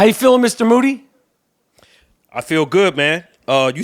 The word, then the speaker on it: Moody: I'm here with G Moody, whose last name rhymes with duty.